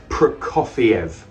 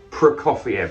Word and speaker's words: Prokofiev: it's sir guy prokoviev i was saying it wrong for the first couple of days but now i'm pretty sure it's prokofiev prokofiev let's say it together one more time prokofiev yeah i think i've